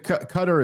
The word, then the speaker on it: Qatar: Also, if someone from uh is it Cutter or Qatar? I don't even know. Cutter is closer to being correct.